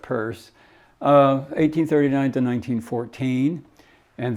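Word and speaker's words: Peirce: here um Charles Sanders purse CS purse and that's p-e-i-r-c-e it's pronounced like a purse you carry around but uh not Pierce but but purse uh 1839 to 1914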